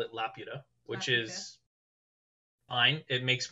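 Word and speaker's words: Laputa: and South America uh Lapita Castle in the Sky uh had its name changed for Western release because it is spelled l-a-p-u-t-a which presents to us Spanish-speaking members as La Puta which means the [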